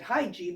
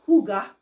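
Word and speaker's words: hygge: I think back then we called it hygiene because we didn't really know how to say it because it's spelled h-y-g-g-e uh pronounced Huga uh or something like that maybe Huga you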